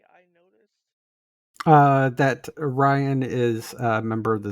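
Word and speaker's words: Rian: ryan's a she but r-i-a-n i pronounce as ryan like ryan johnson acclaimed director of of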